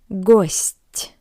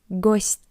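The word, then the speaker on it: гость: Gust. As you can see, we have the soft sign after t. That's why it's soft. Ghost it means guest.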